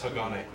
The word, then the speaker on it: Hagane: And now we have a game called, how do you pronounce this game? This is Hagane.